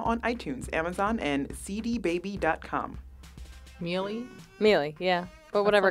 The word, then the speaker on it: Miele: So what's the proper pronunciation? I think it's like Miele.